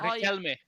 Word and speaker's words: Riquelme: Riquelme.